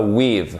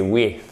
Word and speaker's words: with: Alors déjà, c'est pas with, c'est with. C'est un hard TH que vous voyez ici. Donc ce TH, en fait, il se prononce de la façon suivante. Vous faites sortir la langue entre les dents du haut et les dents du bas